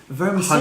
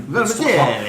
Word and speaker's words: vermicelli: of the little crunchy vermicelli. Hundreds and thousands. Is that the proper name for it? I don't know if that's the right pronunciation. I always thought it was like an Italian vermicelli. Hard C.